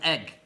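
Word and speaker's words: Eigg: Star oh the islands are called RAM and egg thank you Jean than L thank you I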